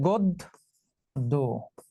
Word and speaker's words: গদ্য: এই যে পরের বর্ণে জ ফলা আছে, পরের বর্ণে জ ফলা থাকায় গ এর সঙ্গে যে অ ছিল সেই অটা এখন ও হয়ে যাবে, তাহলে উচ্চারণ হবে গদ্য।